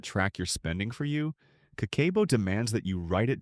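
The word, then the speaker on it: 家計簿: Pronounced kakeibo, this is a budgeting system invented in 1904 by Japan's first female journalist.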